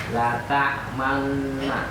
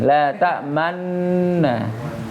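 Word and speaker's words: لا تأمنا: La ta'manna. Jangan lagi, Pak. Iya. Itu kayaknya agak ribet di situnya emang sih. Jadi pas dengung, kan dengung itu kan di sini, Pak. Dia harus merapatkan bibir.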